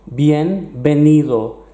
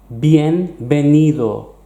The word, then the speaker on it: bienvenido: few times already bienvenido bienvenido and you'll notice that the V is pronounced exactly like a bee bienvenido see you soon hasta